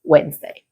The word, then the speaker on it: Wednesday: The spelling makes it look like it is long and complicated, but in spoken English it becomes much simpler. You do not want to pronounce every single letter. So, it's like the middle part of the word disappears and the word simply becomes Wednesday.